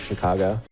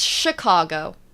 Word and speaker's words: Chicago: about the city of Chicago I'm learning American slang from my American compatriot here I love it so it's Chicago not Chicago Chicago got it yeah interesting um so